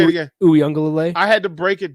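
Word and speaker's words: Uiagalelei: Uyunglele. I had to break it down phonetically just to be able to get through my Saturday.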